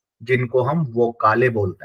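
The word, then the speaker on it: Vokale: होते हैं जिनको हम वो काले बोलते हैं ठीक है यहां पे मैंने फो काले नहीं पढ़ रहा हूं मैं यहां पे वो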